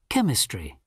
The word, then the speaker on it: chemistry: Maths, history, geography, science, physics, chemistry, biology, PE, literature, foreign languages, technology. Okay, there we have. Entonces, esta CH es qué? Chemistry.